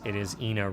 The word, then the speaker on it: Ina: When I'm on campus, I, when I refer to her, I refer to it as (Ee)Ina Road as opposed to (E)Ina Road and try to explain the historical significance of that but it just doesn't seem to catch on.